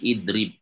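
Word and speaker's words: اِضْرِبْ: Tadinya yadribu bacanya gimana berarti? Dibaca kasrah ini kan hamzah wasolnya. Jadi idrib. Kenapa dibaca kasrah? Karena huruf ketiganya kasrah.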